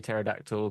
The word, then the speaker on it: pterodactyl: can never see a pterodactyl go to the L why because the p is silent hate you so much